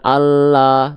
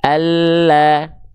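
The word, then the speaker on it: الله: Tipiskan, bukan Allah, tapi Allah.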